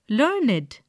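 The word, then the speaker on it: learned: in bracket describing word we pronounce it as learn it to rhyme with created waited one take the words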